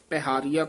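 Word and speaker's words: ਪਹਾਰਿਆ: प हारिया प हारिया ज पाठ है ना प हारिया कट्ठा नहीं कहना लमका के बोलना है मैं तकी ओट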